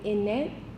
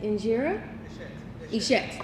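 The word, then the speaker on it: injera: is it a sorry I'm pronouncing this wrong is it in net is that injira thank you is this your injurer present food and Friends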